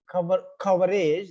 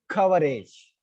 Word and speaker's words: coverage: Even if that same word ends in age, coverage, stress won't shift, right? Still the stress is on the first syllable, coverage.